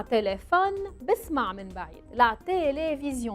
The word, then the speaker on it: télévision: لا تيليفزيون. انتبهوا منيح كيف تلفظوا. ما فيها حرف الاف، فيها حرف الفي. لا تيليفزيون. En français on ferme la bouche بالاخر.